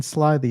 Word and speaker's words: slithy: The I in Slithy is long, as in writhe, and Toves is pronounced so as to rhyme with groves.